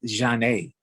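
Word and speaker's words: Zhané: about all right so it's janae's pronounced john a that was released in 1994.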